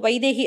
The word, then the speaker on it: வைதேகி: இப்போ ஐ அப்படின்னு சொல்லும்போது அந்த நம்ம உச்சரிச்சு பார்த்தாலே தெரியும், ஐயின்னு சொல்லும்போது இருக்கிறதுக்கும் வைதேகி அப்படின்னு சொல்லும் பொழுதும் அந்த ஐக்கான ஓசை குறையும்.